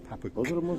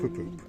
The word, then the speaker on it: Papuk: And her friend's got one, and his name is Papuk. Not Pupup. Papuk.